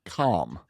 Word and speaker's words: calm: You don't pronounce the L, Rob.